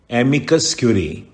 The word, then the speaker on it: amicus curiae: Next outline है एमिकस क्यूरी, 2 word हैं ये भी, AMICUS CURIAE, आपको स्पेलिंग भी याद करने पड़ेंगे कई केसेस में।